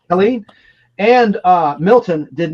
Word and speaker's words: Helene: I mispronounced it? Helene? There's no H. Helene.